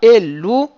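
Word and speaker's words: אלו: Ellu c'est mille'el.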